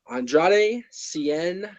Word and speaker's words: Andrade Cien: And then we had Bobby Roode against, how do you pronounce his name? Andrade Cien.